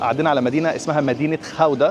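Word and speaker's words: Gouda: ما علينا، احنا هنا وفي طريقنا لبلجيكا عدينا على مدينه اسمها مدينه خاوده. الهولنديين بينطقوها كده واحنا بننطقها جوده، والانجليز برضو بينطقوها جوده نسبه للجبنه الجوده اللي انتوا عارفينها، او الجبنه الجوده متسميه عليها.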